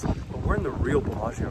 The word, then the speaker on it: Bellagio: we're in the real bellagio right now so let's show people around the world the real colossians or uh a few people say pronounce it more in the italian way palacio yes we're in the